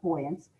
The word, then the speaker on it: buoyancy: the property of boyancy simply put buoyance or buoyance it's actually uh pronounced buoyance is the ability to